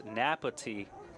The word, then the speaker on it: Napati: It's Napati for number 75 and 33. That is how their last name is pronounced.